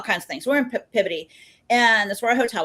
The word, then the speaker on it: Peabody: This woman 2 rows over, yes, it's Peabody. I'm like, look, Excuse me. I'm from Texas. It's spelled Peabody. It's Peabody. She goes, no, it's Peabody.